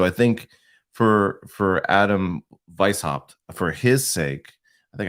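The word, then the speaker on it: Weishaupt: circles like so I think for for Adam Vice hopped for his sake I think I finally said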